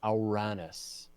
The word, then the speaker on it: Uranus: Yeah, if you talk to a person from Greece and say, how do you pronounce this word? They will say it's Uranus.